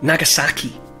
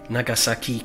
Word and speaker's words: Nagasaki: When it comes to pronouncing Japanese names, all syllables have the same stress. So we tend to say things like Hiroshima or Nagasaki.